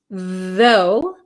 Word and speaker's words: though: in these two words though though and tho thuro okay though though has a vocalized th though and F thuro